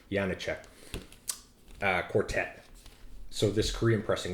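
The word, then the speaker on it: Janáček: Anyway, it's Janicek Quartet.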